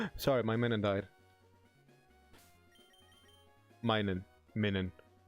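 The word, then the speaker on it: Minun: Minan. How do you pronounce it? Min. Yes, because it's minus.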